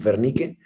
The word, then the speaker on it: Wernicke: el área de fernique Acuérdate que dice guarnique pero pues se produce con v pero pues lo vamos a pronunciar como fernique que es la forma correcta de pronunciarlo pero es el otro